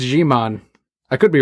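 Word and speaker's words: Djimon: I think it's Gmon. I could be wrong. I don't know how to really pronounce it. Do you know, Manu? It's Gmon.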